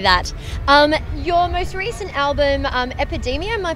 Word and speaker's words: Epidemia: Your most recent album, Epidemia, am I pronouncing that right?